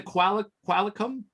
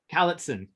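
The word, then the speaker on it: Cowichan: sorry, how do you say, is it the Qualicum First Nations out there? The Cowlitson.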